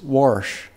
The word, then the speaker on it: wash: We put an R in wash. It's wash. And I'm constantly reminded about that. And I need to be because that's a Kansas word. But I'll try to say it correctly.